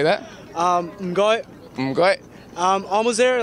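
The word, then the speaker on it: 唔該: Mgoi. Mgoi. Almost there, like say it again. Mgoi.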